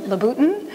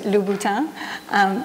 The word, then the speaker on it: Louboutin: the random pronounced innate pronunciations of laputan which is lubuto but no I think